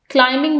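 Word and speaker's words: climbing: पहाड़ी चढ़ रही है इसमें क्लाइमिंग में बी साइलेंट है डू यू नो हु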